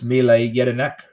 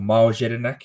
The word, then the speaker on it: Mile Jedinak: Ange for Australia, and it's Mile Jedinak or Miles Jedinak if you want to pronounce it in the English way.